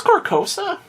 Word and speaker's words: Carcosa: it's Carcosa. Yeah, Carcosa. Carcosa. Like the car. I gotcha. Yeah, it's not working the Carcosa.